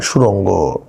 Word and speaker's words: সুরঙ্গ: সুরঙ্গ নামটা খুব সুন্দর সুরঙ্গ অনেক সময় অনেকে উচ্চারণ করতে পারে নাই অনেকে সুরঙ্গ ওয়ার্ডটা উচ্চারণ করতে পারে না অনেকে আমি দেখছি যে সুরঙ্গ প্রপারলি বলতে পারে না সুরং এরকম বলে কিন্তু সিনেমা ইউটিউলে এরকম